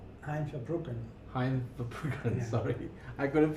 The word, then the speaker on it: Verbruggen: Now, so this is another guy, Van Verbruggen. Hein Verbruggen. Hein Verbruggen, sorry. I couldn't pronounce it properly.